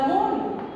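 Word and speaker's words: morning: এখানে আমি যখন মর্নিং বলবো দেখো এই আরটা উচ্চারণ হবে না, মর্নিং একটা ওর মতো উচ্চারিত হবে, ইন দ্য মর্নিং।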